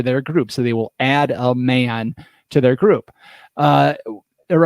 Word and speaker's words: Adaman: a's it's one word a-d-a-m-a-n but it's pronounced pronounced add a man is it like short for adamantium claws like